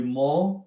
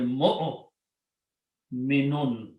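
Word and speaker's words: مؤمنون: Pronunciation should not be mo, should be mo minun. Okay. Waw is just written there.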